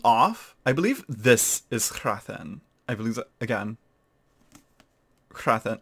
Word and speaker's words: Hrathen: I was very, what put me off, I believe this is Hrathen. I believe, again, Hrathen. Like, come on, how do we pronounce that?